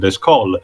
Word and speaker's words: Descole: to the prequel series, Descore instead is pronounced similar to the first name with its French pronunciation, Descol, which I do believe makes a bit more sense.